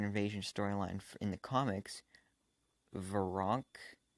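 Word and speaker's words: Veranke: the comics were wrong I think that's how you pronounce it I used to call her ver ranky cuz that's just how it's spelled ve R a n ke so I used to call her foreign key but I think it's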